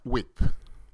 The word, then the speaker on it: width: weight we call it class size or class width width width W width the th is silent width you know you put you put